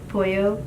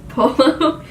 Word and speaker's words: pollo: So I did say, instead of like chicken is pollo, Oh yeah. but I mispronounced it. It's polo.